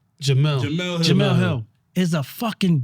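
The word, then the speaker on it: Jemele Hill: How do you pronounce her name? Jamila Hill? Jamel.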